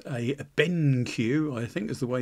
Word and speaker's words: BenQ: So it's a Benq, I think is the way you pronounce it, and this is basically to help